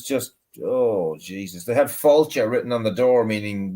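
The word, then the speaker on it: Fáilte: Because Falcha should be spelled Failte with an accent on the A. F.A. father, Falcha. And I Okay. said to the bloke, I said, actually, that's more like Falcha or Felcha.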